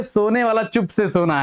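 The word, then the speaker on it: tsetse: किसके करण होती है सीसी फ्लाई ये है देखिए ये सी सी फ्लाइट है थी इसमें टी जो है साइलेंट होता है और है जो है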